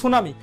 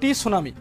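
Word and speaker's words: tsunami: তো এই সুনামি, দেখুন এই সুনামি আপনি যখন উচ্চারণ করবেন তখন কিন্তু আপনি মুখ দিয়ে বলেন সুনামি, এস ইউ এন এ এম আই, কিন্তু দেখুন তার আগে কিন্তু একটা টি আছে। উচ্চারণটা যদি আপনি এক্স্যাক্টলি করতে চান তাহলে কিন্তু হবে সুনামি, কিন্তু যদি এইভাবে পুরোটা করেন তাহলে হবে টি সুনামি। বিষয়টা কিন্তু এমন, তাই এই টিটা এখানে সাইলেন্ট আপনার মাথায় রাখতে হবে।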